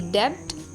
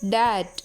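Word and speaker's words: debt: it's climb Tom अब डी ई बी टी डेप्ट नो इट्स डट डाउट subtle lump Baum नहीं Baum कोम plum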